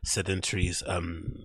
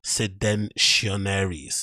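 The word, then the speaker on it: Seditionaries: he's actually wearing a sedentary's t-shirt, I'm pretty sure, long sleeve. I didn't even say it properly. Sedentionaries, that's it, Sedentionaries.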